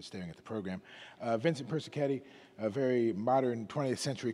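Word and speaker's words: Persichetti: so the piece were playing tonight from it's pronounced person caddy by the way for those of you who in standing at the program Vincente person caddy a very modern 20th century composer and so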